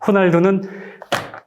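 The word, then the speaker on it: Ronaldo: 내 을 개발을 만나겠죠 그러니까 이 로는 정확한 발음은 호입니다 호 호날두 되기 발음은 요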